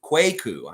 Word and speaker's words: Kwaku: Trust Quake gonna yes I knew it was just like the country the last part I just want to get your first name right Quake quaku kwaku I gotta say it